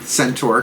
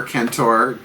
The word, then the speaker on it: centaur: So, if you're going to be, hunting through the woods as you do as an archer, and centaur, kentor, pronounce it as you like, nice to know spirit animals are with you, or if your totems are helping out on this one.